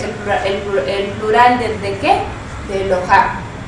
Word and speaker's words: Eloah: ponerle im al final, le vamos a poner una A y un acento en la A. Es decir, para saber en dónde está la fuerza de la palabra, de la pronunciación. Eloha o Eloah también viene de la